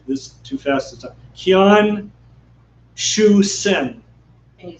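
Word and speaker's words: Qian Xuesen: Yeah, Qian Shu Shi, or I'm doing this too fast this time. Qian Shu Sen. Can you spell it?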